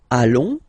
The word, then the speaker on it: allons: Nous allons. Okay, and if you, so final S not pronounced, and then if you